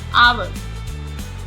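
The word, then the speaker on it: hour: ऑनर, ऑनर, H silent है। Honest, honest. आवर, आवर।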